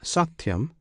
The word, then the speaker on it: satyam: The dwas adore the true satyam alone. This satyam consists of three syllables. One syllable is sa. Another t the third yam.